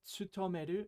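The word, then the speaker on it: 勤める: But more often than not, this kanji is going to be pronounced ben, the onyomi for this kanji, as we see in benkyou.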